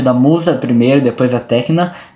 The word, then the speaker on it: Tecna: A Tecna, isso, Tecna, tá certo.